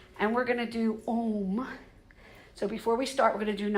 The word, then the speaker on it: Om: humming and the vocalization, when we say Om, which is spelled O-M or A-U-M, essentially what we're doing is the A is the lower part of the body. We feel the vibration there. The U rises to the mid and to the lower